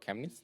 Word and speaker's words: Chemnitz: will be flying straight through the city of chemnitz did i pronounce that correctly yeah that's correct and uh